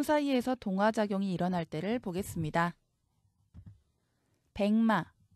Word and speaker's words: 백마: 백마, 미음 앞에서 기역이 이응으로 소리납니다. 비음화가 일어났죠. 이 발음대로 옮기면 이렇게 쓰셔야 합니다.